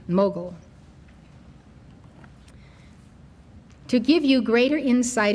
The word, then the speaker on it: Mughal: Mughal, You can see it on the screen. The spelling is Mogul, and this is the pronunciation, Mughal.